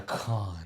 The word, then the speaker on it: Cannes: He's going to con, or how do you say to it? Cannes.